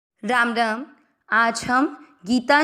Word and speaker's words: गीता: आज हम गीता जी के 18 नामों वाले श्लोक को उसके संस्कृत उच्चारण और हिंदी अर्थ के साथ सीखेंगे। " गीता" में दोनों अक्षरों का उच्चारण लंबा होगा।